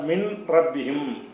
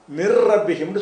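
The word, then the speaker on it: مِن رَّبِّهِمْ: உதாரணமாக மின் ரப்பிஹிம் என்பதை மிர் ரப்பிஹிம்னு சொல்லணும். இந்த இன்னுக்கு பிறகு ரா வந்துச்சின்னு சொன்னால் அந்த இன்னு ராவுடைய வடிவத்துக்கு உச்சரிப்புக்கு வந்துவிடும்.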